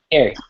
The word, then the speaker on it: Carey: There's been a question on Twitter from Bill Carney. He does a great job of fire engineering. We really appreciate Bill. Am I pronouncing his name right, Dave? Is it Carey? Carey? Carey.